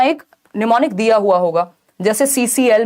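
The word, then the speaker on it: mnemonic: एम से शुरू होता है, एम साइलेंट है, तो ये निमोनिक है।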